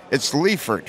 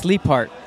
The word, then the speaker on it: Leipart: It's Leifert, right? It's Leipart. Leipart. That's okay. So how many times do you hear the podcast and go, no, it's Leipart, not Leifert?